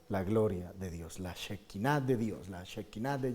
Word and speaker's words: Shekinah: Van a ver ustedes en el documento una palabrita que se pronuncia Shekinah, que es la gloria de Dios cuando se manifiesta Dios, una palabra en hebreo que traduce la gloria de Dios, la Shekinah de Dios, la Shekinah de Yahvé, cuando Dios